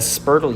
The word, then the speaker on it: spurtle: Is that a spurtle you have there? It is a spurtle. I love my spurtles. They rhyme with Myrtle.